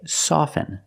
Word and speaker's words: soften: With both words, I don't pronounce the T. I say soften, and I say often.